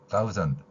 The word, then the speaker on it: thousand: 영어의 TH 발음은 제가 개발한 글자 표기로는 시옷 아래에 작은 동그라미를 치는 소리입니다. 양리로 윗니하고 아랫니로 혀를 물고 마찰을 일으키면서 내는 소리입니다. 그래서 우리말 시옷하고는 비슷하게 들릴 수 있는데 발음하는 방법이 다르기 때문에 thousand 이렇게 표현한 것입니다.